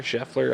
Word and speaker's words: Scheffler: masters with and uh scotty uh scheffler scheffler i think is how you say his last name um won the